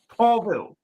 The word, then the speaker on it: Pavel: My name is Pavel, pronounced Paulville.